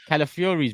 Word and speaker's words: Calafiori: Calafiori's been heavily linked today.